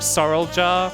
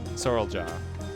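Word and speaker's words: Zoraal Ja: like faka Zoro ja Zoro ja which if you say it kind of like Sor ja is like that's kind of how they say it too so it's not really a big deal sorl jaw that's the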